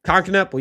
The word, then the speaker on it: Kon Knueppel: Kon Knueppel, yep.